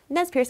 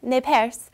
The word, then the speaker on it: Nez Perce: And it's Nez Perce, or Nez Perce, which is the very French pronunciation of it, which means pierced nose.